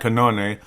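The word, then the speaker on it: Cannone: Pat Canone, that's how they say it.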